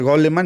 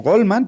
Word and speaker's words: Goleman: a Daniel goleman de no sé si se produce gol alemán yo así lo pronuncio en castellano o goldman pero yo creo que es gol alemán que tiene una tremenda